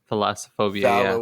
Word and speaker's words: Thalassophobia: a fear of, which is called how to pronounce that shit, Josh? I don't remember. Thalassophobia.